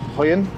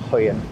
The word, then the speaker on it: Højen: And again, my pronunciation is terrible, but we parked up in a little village called Hoyen. So I think J's are pronounced a bit like a Y. Hoyen.